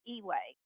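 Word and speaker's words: EUA: put in force an emergency use authorization that's pronounced e-way and what it did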